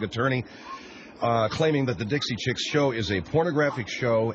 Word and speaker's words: Dixie Chicks: And by the way, their name is Dixie Chicks, not the Dixoy Chicks.